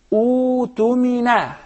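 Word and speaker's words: اؤتمن: In this case, Halim, I gotta say, utumina. Utumina. You don't pronounce the hamza.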